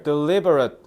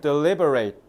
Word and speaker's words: deliberate: 참고로 단어 좀 가르쳐 드리면 제가 방금 발음을 deliberate 뒤에를 어 발음으로 했죠. 어 it트 발음으로 하면 형용사형이란 뜻이야. 발음을 it 이렇게 발음하면 이거 형용사형이에요. 형용사. 그래서 신중한 계획적인 이런 뜻으로 해석하셔야 돼요. 근데 만약에 내가 발음을 deliberate delberate 해서 발음으로 끝낸다.